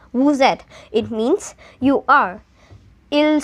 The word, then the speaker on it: vous êtes: तो vous êtes, so you will pronounce it as vous êtes.